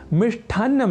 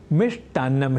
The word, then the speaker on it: मिष्टान्न: यहाँ यह साधारण जानकारी है अपूर्ण और अशुद्ध, क्योंकि मिष्ठ की जगह मिष्ट इस संस्कृत शब्द का होता है व्यवहार सर्वथा शुद्ध, अर्थात मिष्ठान्नम नहीं मिष्टान्नम ही। तो आज आपने जाना कि लेखन और उच्चारण की दृष्टि से श्रेष्ठ नहीं श्रेष्ठ होता है शुद्ध शब्द, और ऐसे ही लेखन